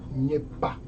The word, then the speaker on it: Gnepa: Can you please state your name so that if I pronounce it incorrectly, you can correct me? My name is Nyepa.